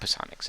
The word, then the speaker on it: psionics: Well, yeah, that's how you pronounce it. It's not psionics, it's psionics, right?